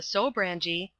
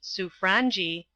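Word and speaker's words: Sobranie: or Radiavitch, as it should be sounded, the foreign secretary, on what the Sobrangi, it is pronounced Sufrangi, would be likely to do.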